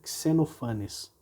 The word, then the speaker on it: Xenophanes: fácil para a gente, mas é importante saber que essa seria a forma correta, Xenophanes, tá bom?